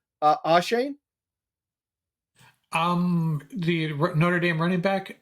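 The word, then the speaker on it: Achane: Ashane? The Notre Dame running back. Oh no. Achan. Yeah, Achan.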